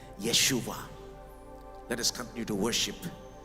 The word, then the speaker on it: Yeshua: issues that's his name the name jesus in the hebrew language is pronounced like that yeshua let us continue to